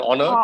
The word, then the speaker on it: honor: Because H is silent in this case. Vowels. Okay. Yeah. Vowel sound is the O. So honor. He's an honor to Honor.